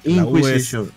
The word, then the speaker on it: Inquisition: ¿Cómo se pronunciaba, Clos? Inquisition. O sea, Inquisition. La U no es muda acá.